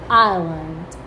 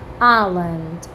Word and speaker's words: island: you will not say it so how to pronounce it island island i want to see water everywhere everywhere water